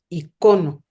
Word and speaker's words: icono: Miguel sabrá cómo, pero se acentúa la última O. Entonces, por eso también creo que viene de ahí, de la raíz griega, que se diga icono, o sea, no en la I, sino en la O.